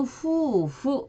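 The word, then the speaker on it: 夫婦: 일본어 발음에서 여기에서는 부부일 때는 후 이렇게 장음으로 되고 농부일 때는 노후 이렇게 한음절로 발음이 됩니다.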